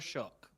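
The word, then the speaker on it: Shough: the Saints made Tyler Shuck their quarterback and he actually balled out yesterday. I'm not I can't take his name away from Tyler Shook. Tyler Shook, it's how you pronounce it.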